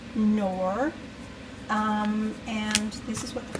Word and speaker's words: Knorr: I use this, and what I'll do is I will put 2 of these in, 2 of these Oxo by Knorr, Knorr, pronounced Knorr, and this is what the box looks like.